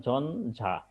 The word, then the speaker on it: ঝঞ্ঝা: ন হবে আর জ টা ঠিকই থাকবে যেমন ঝঞ্ঝা সহজ আছে এগুলো ঝঞ্ঝা অর্থাৎ ইয় টা নয়